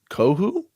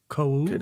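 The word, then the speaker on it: Kohou: Kadir Kohu? Kohu, I think the H is silent. Kohu?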